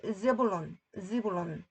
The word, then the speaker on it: Zebulun: 호수냐면 in the area of 스불론을 이게 스불론이 즈불론 and 납달리가 납탈라이 ph가 p 발음 나서 그 다음에 tal이가 납탈라이 그래서 leaving